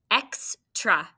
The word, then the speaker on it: extra: E, X, and how about the second syllable? Tra, be careful on that one. Right, T-R, that's a blend. It sounds kind of like ch, C-H, but it's not. What makes the sound again? It's not short U, right? It's this open syllable exception, schwa there.